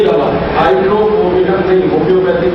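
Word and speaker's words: Hydrophobinum: दवा का नाम है हाइड्रोफोबिनम। मैं स्पेलिंग बोलता हूं, HYDRO, HYDRO, फिर उसके बाद PHO, P for parents, PHO, BI, ये भी वाला भी, BINUM, हाइड्रोफोबिनम, ये दवा है। HYDRO, PHO, BINUM, हाइड्रोफोबिनम।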